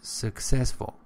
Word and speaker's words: successful: And you said successful, it is successful. Second syllable.